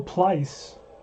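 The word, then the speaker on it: Pleis: Picked up by Please, and he throws him out. All right, so Bill Plice rhymes with spice, not please, but Plice.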